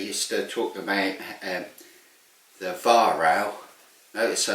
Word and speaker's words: Weihrauch: I say that because I don't want to offend people, but trust me, Weihrauch is the correct pronunciation, not Weihrauch.